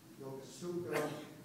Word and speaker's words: Yokosuka: We had all our tools of our trade with us, and we landed at a place called Yokosuka, or Yokosuka, however you want to pronounce it.